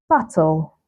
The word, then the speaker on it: subtle: Then we also have subtle, subtle, not subtle, right? So it's subtle, subtle, debtor, debt.